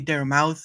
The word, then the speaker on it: Daramouthe: Yes, my name is Daramouthe, or Dara for short, because unfortunately, some people don't know how to say Daramouthe very well. They say Daramouthe, and I'm like, guys, there's a silent E at the end.